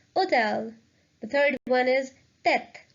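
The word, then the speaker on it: hôtel: one hotel means hotel the H is a legend so it will be pronounced as hotel the third one is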